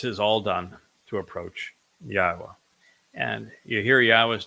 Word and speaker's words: Yahowah: the a at the end of it so yahwah is the obvious answer should you say well